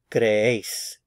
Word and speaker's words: creéis: Creéis, creéis. So there are two syllables here. Cre and ace. So the stress is on this syllable because we have the written accent mark.